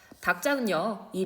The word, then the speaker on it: 닭장: 의문의 변동 살펴보도록 할게요 닭장은이 리을 기이 자음군 단순화 되어서요 리을이 탈락이 됩니다 자 닭장 기이 남게 되는데요 드브 뒤에서 예사 소리가 된소리가 될 수가 있죠 여기에서 된소리 대기가 됩니다 그래서 짱이라는 발음이 되죠 니은 살펴보도록 하겠습니다 끌는